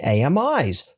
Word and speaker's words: AMI: Amazon EC2 now enables you to delete underlying EBS snapshots when dregistering AMIs. Freaking finally. And yes, AMI has three syllables.